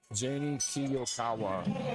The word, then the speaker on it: Janie Kiyokawa: Janie Kiyokawa. I checked with her. That is how you pronounce it.